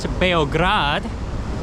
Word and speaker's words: Beograd: So today we're in Belgrade, or more properly pronounced Beograd, and we're gonna explore the city and see what it's like in the capital of Serbia.